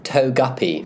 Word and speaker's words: Togepi: Togepi, apparently. Togepi.